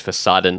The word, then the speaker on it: Fassaden: about ivy and monstera, I mispronounced the word Fassaden because there was a cool website I found called Fassadengrün, which is a website about green facades, and that's the German word for facade, is Fassaden.